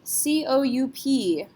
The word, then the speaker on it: coup: use it in English, C-O-U-P. How do we pronounce this word? P is not a careful letter, so we're going to say coup.